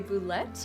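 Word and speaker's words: bulette: called a boulette, also sometimes known as a boulet. Some people just Ooh. pronounce it bullet.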